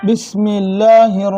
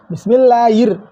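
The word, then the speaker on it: بِسْمِ اللَّهِ: ஆனா நம்ம எப்படி சொல்றோம்னா பிஸ்மில்லாஹிர் ர் என்று சொல்றதுக்கு தவறான உச்சரிப்பா இருக்கு ஹிர் என்று சொல்லணும்.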